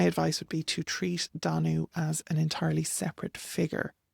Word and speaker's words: Danú: Danu, in one manuscript, the Morrigan is given as Danu, as like an alternate name, but it's unique to that single source.